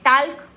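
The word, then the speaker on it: talk: के आपने पढ़ा था टी ए एल के इसको हम क्या पढ़ते हैं टाक टॉक इसको हम पढ़ते हैं टॉक टी ए को पढ़ेंगे ट क टॉक ल साइलेंट हो गया।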